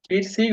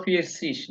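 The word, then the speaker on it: vierzig: হ্যাঁ years years ফিয়ার সিগ অথবা ফিয়ার সিস দুইটাই সঠিক।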